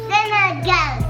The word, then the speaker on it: sinigang: So today I am gonna be showing you guys my version of how to make sinigang gang gang. Say sinigang gang gang. No, sinigang.